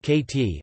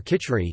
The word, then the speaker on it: Khichdi: Khichdi, pronounced KT, or Khichri, is a dish from the Indian subcontinent made